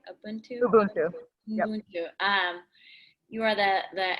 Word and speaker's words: Ubuntu: Are we pronouncing it right? Ubuntu. Ubuntu.